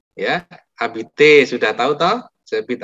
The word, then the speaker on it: j'habite: J'habite à Paris. Jangan pernah ngomong je habite ya. Bacanya j'habite. Oke?